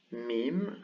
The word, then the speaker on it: mīm: meme and noon so the first one this one is meme meme and it's pronounced as a regular m and then noon this